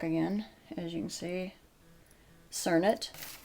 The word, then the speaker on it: Cernit: as you can see turn it or make that's how it's pronounced let's try to just